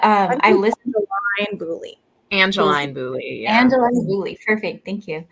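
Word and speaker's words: Boulley: angelene Bo bow I'm not sure how to pronounce it I need to look it up but um I listen boly Angeline boly Angeline boly perfect thank you you that's my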